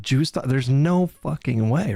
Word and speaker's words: JSTLK: It's pronounced Jew stalker.